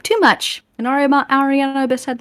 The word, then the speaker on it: Erianna: So it is, I think it's technically pronounced Ariana Abyss. And it's actually just Ariana, and then the Abyss is kind of like a loose translation of the first name.